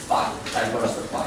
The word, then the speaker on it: diversify: But here the verb of the word diverse is a verb diversify. So like here the stress is also on the second syllable.